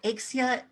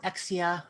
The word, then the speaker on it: Aeksia: project is definitely so axia or exia or axia there's like a million different ways to pronounce it any of them will work uh it is pronounced